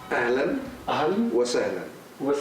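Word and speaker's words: أهلا وسهلا: Cuando a usted le dan la bienvenida, le van a decir Ahlan wa sahlan.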